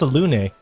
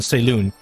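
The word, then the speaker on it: Selûne: And also, after playing Baldur's Gate 3, I realized it's pronounced Salune.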